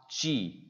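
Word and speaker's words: ち: soo say so tah chi chi o toilet in here it's not T but a Chi su this is stuff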